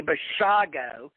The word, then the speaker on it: Bashago: do, Andy, folks, Andy Bashago. I know, Andy told me himself, it's like Dr. Shivago. All you people out there that are mispronouncing it, Andy is Andrew Shivago, but it's Andrew Bashago, okay?